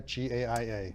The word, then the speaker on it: Gaia: Are you involved in something called the Is it pronounced Gaia? G A I A Gaia.